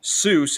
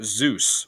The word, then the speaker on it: Zeus: In the main one, he's not called Dr. Seuss, he's called Dr. Zeus with a Z.